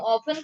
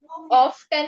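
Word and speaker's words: often: ऑफन का meaning क्या है, कौन बताएगा? ऑफ्टन नहीं होता है वो, ऑफन होता है, उसमें टी साइलेंट है।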